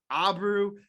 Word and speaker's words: Abreu: an amazing show today our guest abrehu uh he he likes he's even given me permission to say abru but uh i'm gonna try and pronounce it correctly through this whole thing he is awesome right